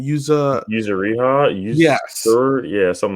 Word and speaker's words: Yuzuriha: Yuzuriha, Yes, yeah, something like that. something like that. Yuzuriha.